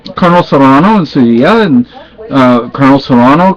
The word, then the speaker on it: Sevilla: We could walk down the street in Sevilla, and maybe in English, I think people would say Seville, but that's not how you say it. It irks me when people mispronounce certain things in Spanish.